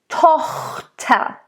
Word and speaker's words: Tochter: Tochter. Toch. So nice O, open O. It's not Tochter, Tochter. Both T's need to really come out.